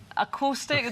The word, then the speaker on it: Aquostic: Aquostic. Is Say that again? right? Acoustic, my Scottish accent.